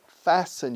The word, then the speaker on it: fasten: Con T muda, no dicen fasten. Fasten your seat belt.